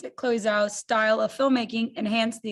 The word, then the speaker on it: Chloe Zhao: How did director Chloe Zhao, is that how you pronounce it? Chloe Zhao's style of filmmaking enhance the experience for you?